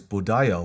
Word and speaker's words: Buddha: of Buddha is enlightened in Sanskrit its pronunciation is budaya which means enlightened beings in summary the word